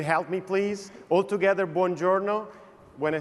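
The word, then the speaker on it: buongiorno: correctly can you help me please all together bonjourno when I say three two one bjo was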